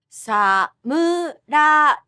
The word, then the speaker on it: samurai: Again, this is the low-high pitch pattern, which for longer words is also called the flat pattern. Samurai, samurai, samurai, karaoke, karaoke, karaoke, bonsai, bonsai.